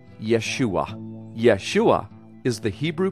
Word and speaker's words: Yeshua: It is pronounced Yeshua.